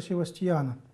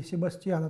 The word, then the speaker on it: Себастьян: с подписью страданием ученика севастьянов или себастьяна так произносится это имя на западе сегодня церковь празднует память